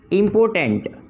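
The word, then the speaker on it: important: देखिए दोनों का जो प्रोनाउंसिएशन है उसमें थोड़ा सा ही डिफरेंस है। यहाँ पे आर यूज़ हुआ है और यहाँ पे बस आर मिसिंग है। तो इसको हम कहते हैं इम्पॉर्टेंट और इसको हम कहते हैं इम्पोर्टेंट।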